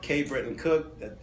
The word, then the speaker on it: K. Britton Cook: Again, it's K. Britton Cook. That's the name. The K is silent, or if you want to put in there, that's fine.